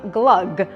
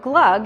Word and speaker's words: Glögg: Uh going to make some glug. So glug is a Swedish mold wine. And it is spelled G L O with an umlout, G.